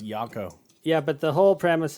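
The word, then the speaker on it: Jocko: his voice other guy I think it's pronounced yako yeah but the whole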